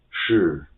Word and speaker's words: 是: Second one, 是 SHI will be simplified as the pronunciation as SH in the English word she. So only SH, it will be sh. So this pinyin will be pronounced as 是.